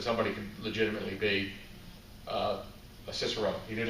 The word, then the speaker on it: Cicerone: Cicerone means guide or docent. It's a Latin/Italian term. It's actually pronounced Cicerone in Italian, but Ray prefers the Americanized version, as do I.